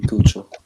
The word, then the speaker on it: Keuchel: That was Kuchel. Yeah. That's how you pronounce his name, right? Keuchel. No, it's definitely Cucho.